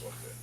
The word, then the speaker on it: Jorge: I've always spelled it I still spell it with a J, and I sign it with a J, and it actually is pronounced Jorge.